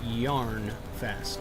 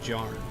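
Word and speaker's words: Jarnfast: for many years okay so they're pronouncing that yarn fast not jarn yarn were it not for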